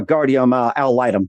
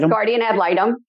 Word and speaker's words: guardian ad litem: you to become a guardium al item did i pronounce that right i'll guardian ad litem okay all right let